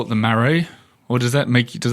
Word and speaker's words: Marais: wrong marray yeah like maray I was long as you don't pronounce the silent S at the end yes exactly that's already